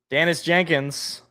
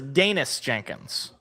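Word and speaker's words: Daniss Jenkins: Danis Jenkins or I I learned it was Danish Jenkins. That's that's the proper pronunciation.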